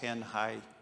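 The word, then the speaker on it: Tanjay: Uh we are located in the central Philippines on the island of Negros in a ti city called Tanhai. T- jaw y is pronounced tanh high.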